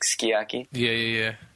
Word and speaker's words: sukiyaki: You usually drop the U after the S at the beginning, like skiyaki. Yeah.